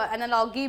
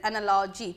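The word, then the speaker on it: analogy: तो कुछ इसमें एनालॉजी, इसको कुछ कभी कुछ लोग एनालॉगी भी प्रोनाउंशिएट करते थे, बट इसका जो right pronunciation that is एनालॉजी, ठीक है।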